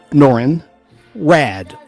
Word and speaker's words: Norrin Radd: a young astronomer named Norrin Radd, bald-headed, white-looking guy, white man, like Caucasian, and that's spelled Norrin, Norrin Radd, R-A-D-D, like radical man, but with 2 D's.